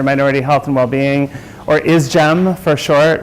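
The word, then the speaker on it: ISGMH: health and well-being or is gem for short we say we are a gem so we pronounce it is gem I wanted to talk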